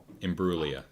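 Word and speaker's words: Imbruglia: Nadia Inbuglia. $16 million. Torn. Did I say that right? Yeah. In Bruia.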